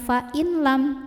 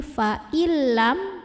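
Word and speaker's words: فإن لم: ke lam tanpa berdengung jadi Artinya kita bacanya bukan Vain lam tapi faillam tekan lamnya tapi tanpa ditahan Jadi bukan file tidak perlu ditahan faillam di sini ada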